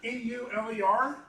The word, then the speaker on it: Euler: If we go to curves, and it's right here about halfway down, it looks like it says Euler filter, E-U-L-E-R. It's pronounced Euler. It's a physicist's name, but it's called Euler interpolation or Euler calculation on how we get this rotation.